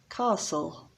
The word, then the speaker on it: castle: castle another silent letter the t is silent castle mountain people often say